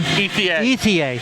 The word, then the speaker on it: Ethier: Ethier. Thank you. Okay. We got Ethier.